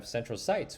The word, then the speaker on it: centrocytes: And then you have centrocytes, which rhymes with light, and they are the light side.